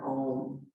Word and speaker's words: Om: We'll begin our practice with an Om today. Today, drawing it out into 3 syllables. So it'll be ah, so ah, So the A-U-M, Om.